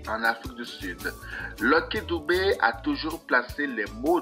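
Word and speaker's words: Dube: bonsoir à tous lcky Philippe doubé prononcé doubé né le 3 août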